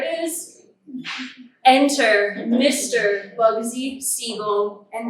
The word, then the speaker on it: Siegel: is enter Mr Bugsy seagull and that is seagull not seagull as in the seafaring bird that steals your prize now regardless of pronunciation